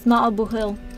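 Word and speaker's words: maith an buachaill: The pronunciation is Ma'abuhil.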